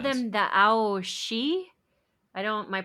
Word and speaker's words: Aos Sí: Yeah, they called them the Aos Sí. I don't My pronunciation's not great. My Celtic pronunciation, but it's A O and then S I with like a an accent over the top of the I.